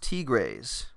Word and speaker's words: Tigres: That'll be for Scott McNulty, pronounced Tigres.